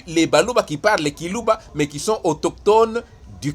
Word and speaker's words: Kiluba: Nous défendons le Buluba authentique dans lequel sont compris et les Baluba natifs du Kasaï, locuteurs du Kiluba, qu'ils prononcent Chiluba, mais sans que ce